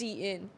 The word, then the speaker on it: Shein: No, I worked with them before and they said it's pronounced Shein.